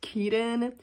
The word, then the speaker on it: Kidan: I've learned that her name was pronounced Keaton because I tweeted just now how to pronounce